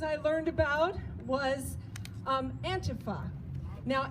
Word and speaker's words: antifa: learned about was um antifa now antipho is how they pronounce it i pronounce it on purpose antifa just because i know